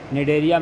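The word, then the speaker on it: Cnidaria: निडेरिया में silent होता है, ठीक है।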